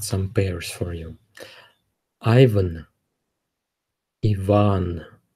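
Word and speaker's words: Иван: bears for you Ivan Yvonne the stress is on the second syllable yeah Yvonne Maria Maria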